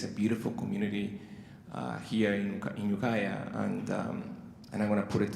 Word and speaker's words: Ukiah: And then, like, how you spell it? And then he started cracking, like laughing. It's like, Ukiah.